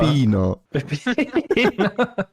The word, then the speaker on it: pepino: Pepino.